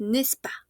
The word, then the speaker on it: n'est-ce pas: Oui, on ne prononce pas la S. N'est-ce pas ? Ouais, ne pas. C'est vrai bien que digamos, pero no es muy natural. Entonces, siempre hablan rapidito. Entonces es nespa, n'est-ce pas ?